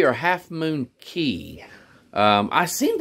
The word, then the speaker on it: Cay: K or half moon key yeah um I seemed like I saw it half moon K well it's spelled k but they say that the um The Islander call Key okay okay sunshine I